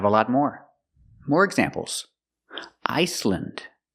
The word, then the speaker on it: Iceland: Iceland, Greenland, New Zealand. Again, we're pronouncing them with the short sound, lind.